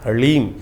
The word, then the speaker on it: ह्रीं: ह ह के पैर में र है, फिर उसमें साथ ही में ल लगा हुआ है और ऊपर से बड़ी की मात्रा बिंदी। ओम ह्रीम, इसका उच्चारण इस प्रकार से है।